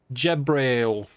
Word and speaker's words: Gabriel: don't trust this page Gabriel jabriel didn't help me at all okay it's it's j almost like ja in French and Braille sounds a bit like um